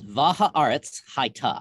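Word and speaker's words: והארץ היתה: here it is in the hebrew this is how it starts this is vajaaret's haita that's how you say that this is not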